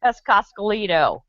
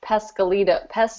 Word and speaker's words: Pescalito: Yes, Pescascolito. No, it's not pronounced that. It's Pescalito. Whatever.